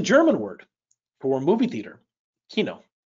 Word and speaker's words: Kino: word for movie theater Kino so imagine Keynotes kind of sounds like Rhino Kino rhino not the same sound but this is not